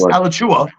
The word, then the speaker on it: Alachua: like Ela ala ala you have to say it like ala that's right the city is Alachua isn't one like Alachua